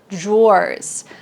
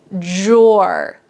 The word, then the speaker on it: drawer: This is a dresser, and there are drawers. This pronunciation trips up a lot of my students. So, listen carefully when I say it. Drawer. Drawer. It almost sounds like j o r.